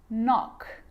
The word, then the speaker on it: knock: A K is not pronounced when it comes before an N, like knife, no, knee, knock, not, knowledge.